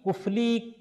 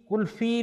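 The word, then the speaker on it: قلفی: غلط العوام کا مطلب یہ ہے کہ ابھی کفلی کلفی لوگوں کے لیے بنا نہیں, کچھ عوام بولنے لگ گئے, خواص نہیں بولتے.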